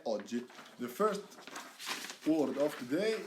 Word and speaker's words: oggi: Make sure you say that double G, alright? Don't say oggi. Say, make a stop, make a pause in the middle of the word. Oggi, alright? That's how you pronounce the double G, alright?